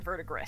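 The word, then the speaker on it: verdigris: gets this green coloration also known as verre or vergis some people call it that I say it with a silent s so that's why it's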